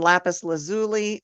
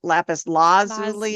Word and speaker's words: lapis lazuli: Throat, blue lace, agate, turquoise, aquamarine, and lapis lazuli, or lapis lazuli, according to your professor.